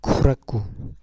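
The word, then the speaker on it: 苦楽: 이렇게 하면은 고락 이죠 락은 라라고 합니다 쿠라 인데요 그니까 괴로움 하고 즐거움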